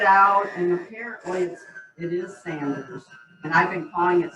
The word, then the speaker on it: Sanders: i got it back here and it says sanders it's like oh my gosh i bought an inferior brand well i went online checking it out and apparently it is sanders and i've been calling it saunders my whole life we've always called it but